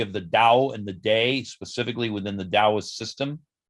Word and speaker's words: Te: that they called the day also spelled t e but pronounced as though it were d e so the tao and